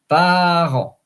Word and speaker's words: parent: parents which is so same spelling not same pronunciation par par and uh that's really